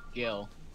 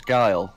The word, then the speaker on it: Guile: Yeah, I think it's pronounced Gil. Guile? No, it is Guile. It is actually Guile. Yeah. I'll have Wait, you know. since when? I watched the Street Fighter movie. Here's a huge Street Fighter fan who's been playing the games for a while and is in the community. Trust me, they pronounce it Guile.